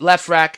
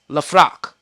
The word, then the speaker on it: Lefrak: He said he knows the dude that owns the buildings in Left Rack, and it's not Lefrak City. It's not pronounced Left Rack. It's Lefrak.